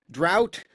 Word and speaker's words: Draudt: We're not allowed to have fun anymore, but we are allowed to have Draught, whose name I am informed is pronounced as though there will be no rain, although it looks like there will be rain.